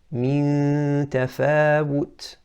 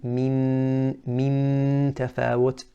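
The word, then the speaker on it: مِن تَفَاوُتٍ: So to pronounce it again, min tafawut, and we're not saying min tafawut. Now you're hearing the noon, that's incorrect.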